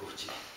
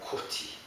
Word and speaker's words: koti: Sanskrit would be pronounced something like koti, koti, koti. So if you say that 100 times and you're Korean, you probably say Guji.